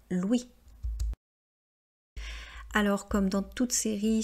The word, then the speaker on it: Louis: Vous voyez qu'ils finissent par la lettre S et en français, on ne prononce pas la lettre S. Donc on ne dit pas Louis, on dit bien Louis.